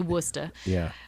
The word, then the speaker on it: Worcester: ended up moving to Worcester Massachusetts wora or however you say ITA yeah it's definitely wora uh we got we ate it wora pizza that's spelled like it sound instead of how it actually is spelled um but uh and